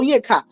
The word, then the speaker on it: Onyeka: It's not like she say Onye or Ka. You know how some people call their name. She calls it the full Onyeka.